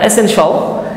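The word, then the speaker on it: essential: আসলে শিয়াল বলা যাবে না, শিয়ালগুলোকে আপনি মেরে ফেলবেন, বনের শিয়াল না, মনের শিয়াল। হ্যাঁ, সেই শিয়ালগুলো আসলে আপনি উচ্চারণ করবেন শল। হ্যাঁ, এসেনশিয়াল।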